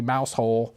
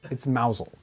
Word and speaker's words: Mousehole: Now the next town, this one, of course, it's obviously Mousehole, but it's Mousel. Is Mousel? Mousel. See, I was wondering if it's going to go the moose. Although, the moose part. yeah, this actually says Mousel. Mousel.